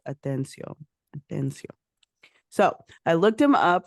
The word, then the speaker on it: Atencio: And the reason that I fumbled on that is because I automatically want to say Atención, but it's Atencio.